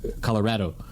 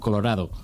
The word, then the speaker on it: Colorado: that I know Spanish it's really hard to say Colorado because that's the wrong sound for the a it should be Colorado in Spanish which means like pink actually but it's you can't pronounce you have to pronounce it the bizarro way that people have started pronouncing that foreign yeah right and sometimes